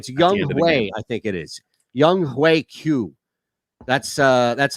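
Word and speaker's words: Younghoe Koo: the way it's young i think it is young hue q that's uh that's how we pronounce it oh yeah yeah because i heard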